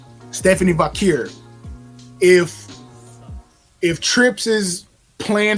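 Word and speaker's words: Vaquer: is going to win here because Stephanie Vakur and I hope I'm pronouncing that correctly. Vakare. Stephanie Vakir.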